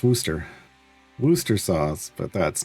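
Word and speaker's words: Worcestershire: grew up with that Valdemar Night Road being pronounced as worsture sauce. Worstisher. That is not. There are going to be people that swear that that's how you pronounce it. No. Yeah, it's worooster.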